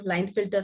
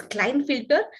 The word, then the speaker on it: Klinefelter: We can also pronounce that as Klinefelter, but K will be silent. So we can pronounce this as Klinefelter syndrome.